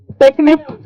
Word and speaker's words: Technip: Very hard to pronounce, bhaiya. Technip. We are used to technique.